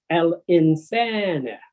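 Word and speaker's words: الإنسان: Al insana. Al insana, but the period, you will say al insan.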